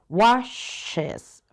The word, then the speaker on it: washes: Pero en este caso, cuando este verbo termina en estas, sí vas a pronunciar la es. Washes.